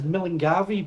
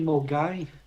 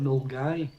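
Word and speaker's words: Milngavie: Um, a lot of people read that as Milgavi, but it's actually Mgai. That's how you pronounce it. Milgai.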